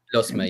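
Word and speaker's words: Lusmagh: In the Leinster Intermediate Hurling Championship quarterfinals, Commercials from Dublin, Ratode from Meath, Lusma, if I pronounce that correctly, Liam, from Offaly. Lusma, yeah.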